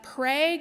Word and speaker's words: Prague: The first time was in Prague, Oklahoma, that's the correct pronunciation, last November, after we stopped an elementary school from having morning prayers over their loudspeaker.